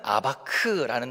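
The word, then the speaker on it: אבק: 근데 이것을 이제 히브리어 발음으로 하면 야곱은 야콥이라는 이렇게 발음이 되고 야복은 야복라는 이제 이런 발음이 되고 씨름하다는 아바크라는 단어입니다. 그러니까 야코브가 야포크에서 아바크했다 하면은 뭔가 이제 언어의 유희를 사용해서 이 본문이 시작되고 있다는 것을 알 수 있습니다.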